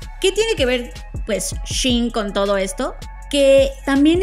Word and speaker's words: Shein: Y hablando de Shane, que spoiler alert, no se dice Shane, porque es Shein. Como ella cool, Shein, o ella está Shein.